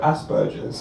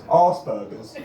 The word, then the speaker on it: Asperger's: And what made it worse was every time she said the word Asperger's, right, she mispronounced it as Arsburgers.